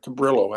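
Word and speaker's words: Cabrillo: uh symphony orchestra at Cababrio College here Cababrillo actually because it's Portuguese and Spanish um did with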